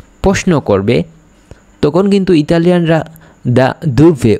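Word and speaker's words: da dove: কোথা থেকে, আপনি কোথা থেকে এসেছেন যদি কেউ প্রশ্ন করে, তখন কোথা থেকে যখন প্রশ্ন করবে তখন কিন্তু ইতালিয়ানরা দা দুভে উচ্চারণ করবে।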